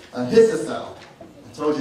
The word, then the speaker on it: Ahithophel: and hard to say, Ahithophel. Let me say it again because I said it wrong. Ahithophel. I told you it's hard to say. Ahithophel is David's